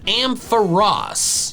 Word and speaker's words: Ampharos: Its official pronunciation is Ampharos.